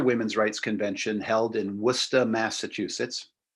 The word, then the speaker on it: Worcester: rights Convention held in wora Massachusetts pronounced it looks like Worchester or Worcester but they just pronounce it w They smash the syllables together and so another event